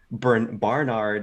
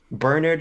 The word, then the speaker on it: Bernard: you get to the real crux of the issue being Barnard, whatever his fuck name is, Bernard. who shows Bernard. He says Bernard is how they say it.